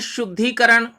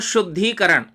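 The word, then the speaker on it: शुद्धीकरण: अब हम लिखते हैं शुद्धिकरण। देखिए उच्चारण में फर्क है, शुद्धि और शुद्धिकरण, वृद्धिकरण। तो शुद्धि और वृद्धि दोनों में ह्रस्व ई है, वृद्धिकरण में और शुद्धिकरण में दीर्घ ई है।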